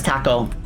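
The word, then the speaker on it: たこ: Yeah, taco is pronounced the same as taco, but taco is like a Japanese word for like octopus.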